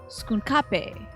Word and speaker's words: Skunk Ape: they had a villain named skunk ape pronounced skape okay that's a fun